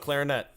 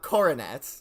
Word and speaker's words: Coronet: Sure, Mount Clarinet. Okay. No, it's not. It's not Mount Clarinet. It's Mount Coronet.